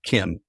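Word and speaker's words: CIEM: And we kind of dubbed it Kim, even though it's not kind of spelled that way, but that's how I've always, pronounced it.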